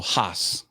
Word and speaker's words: Haas: Haas is how you say it. And it's also you got to say both the S's.